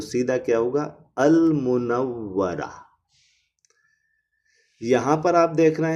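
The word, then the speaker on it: المنورة: क्योंकि मीम जो है वो मून लेटर है। नूर में अल जोड़ने से नून डबल हुआ था तो लाम साइलेंट हो गया था, लेकिन यहाँ पर लाम साइलेंट नहीं हुआ, यहाँ पर लाम को पढ़ा जा रहा है। इधर पढ़ेंगे अल मुनव्वरा।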